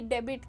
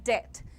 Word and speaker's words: debt: बिल्कुल गलत है, ये डेबिट नहीं है बेटा, इसमें तुम्हारा बी साइलेंट है। The pronunciation is डेट, the spelling is DEBT बट the pronunciation is डेट everyone. कर्जे को अंग्रेजी में डेट कहते हैं। बी साइलेंट है, जैसे आप डिटेंशन में डेट बोल रहे हो डेट, वैसे ही बोल सकते हो डेट।